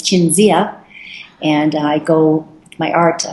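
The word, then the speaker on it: Cinzia: name in Italian uh my name is Cynthia is my legal name and in Italian it's chinia and I go my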